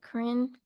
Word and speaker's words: Corinne: All right, Corinne, that's me. That's how you say my name and my grandma's name, Corinne.